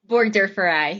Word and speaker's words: burgdorferi: Burgdorferi.